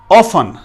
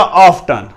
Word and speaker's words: often: Next हमारा word है ऑफन, OFTEN, ऑफन या ऑफ्टन, ऑफन या ऑफ्टन।